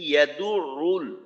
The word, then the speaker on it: يدع: أرأيت الذي يكذب بالدين আচ্ছা দ্বিতীয় আয়াত فذلك الذي يدع اليتيم فذلك الذي يدع اليتيم এইখানে ফাযালিকা আল্লাযী ইয়াদুরুল ইয়াদুরুল ইয়া এর উচ্চারণটা মাখরাজ থেকে করা, আর আইনের উচ্চারণটা এটা এখানে দুইটা।